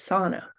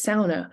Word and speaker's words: sauna: pronounce the word as Sana but in the U.P many people pronounce it as sauna which is closer to the standard Finnish pronunciation this shibboleth functions not